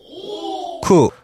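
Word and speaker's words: く: 그리고 또 하나는 구도 있죠. 네. 그러고 보니까 구도 있네. 구는 일본 발음으로요. 큐. 그런데 다른 발음으로는요. 쿠. 어느 경우에 달라지죠? 어, 보통 뭐 월을 할 때 네. 이렇게 숫자를 셀 때는 큐라고 하는데 네. 월을 할 때는 쿠가츠. 라고 하죠.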